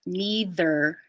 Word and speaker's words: neither: Try to say neither with a longer TH. Just at first, it won't be this long in real life, but neither. Neither. Yeah, like leading the second syllable. Neither. Mm-hmm. Neither. Neither. Good. And nice intonation down to make the ER a little softer.